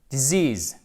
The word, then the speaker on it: disease: Donc, this, disease, accent tonique, ou court, could.